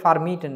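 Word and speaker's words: vermieten: এইবার হচ্ছে ফার্মিটেন দেখলাম না, ফের মিটেন, এফ এর মতো উচ্চারণ হবে।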